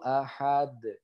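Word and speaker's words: أَحَدٌ: Ya, jadi bacanya kul huwallahu ahad. Seperti itu, ya. Jadi kul huwallahu ahad. Seperti itu. Jadi harus dipantulkan ketika sukun. Seperti itu ya. Karena sukunnya ini sukun karena berhenti. Begitu.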